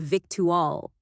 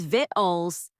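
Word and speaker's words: victuals: This dish is full of victual. Nah, it's vitalls.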